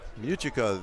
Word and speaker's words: Muchika: Muchika, the quarterback. That is the pronunciation that Coach Mike Corona gave us. And that's what we're going with.